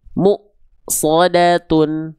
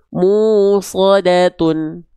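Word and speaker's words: مؤصدة: M shodatun mu shodatun mu shodat Kenapa munya tertahan? Karena mynya berjumpa dengan hamzah sukun. Kenapa enggak dibaca musodatun atau misalnya dibaca musodatun? Enggak bisa. Karena muyya bertemu dengan hamzah sukun maka mya pasti agak ngerem dulu ya.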